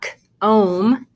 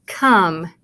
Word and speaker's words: come: The E doesn't tell the O to say your name because it's not k-ome. That's not the word. It's come. Come. So this U actually sounds like a short U sound.